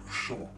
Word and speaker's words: Sean: The correct pronunciation of my name is Sean. From the back of the throat. Say it like you're still in the old country.